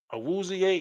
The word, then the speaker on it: Awuzie: Awuzie, is that how you say his name?